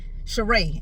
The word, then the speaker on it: Cherie: he made reference to Sheree, and I keep saying Cherie because it's spelled Cherie in my mind, but it's pronounced Sheree.